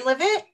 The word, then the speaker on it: Glenlivet: Glenlivet.